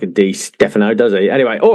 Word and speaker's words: Di Stéfano: Is it Di Stéfano or Di Stéfano? Let's sort that one out straight away. I'm pretty sure in Spanish they don't emphasise any particular syllables, so I think it is Di Stéfano.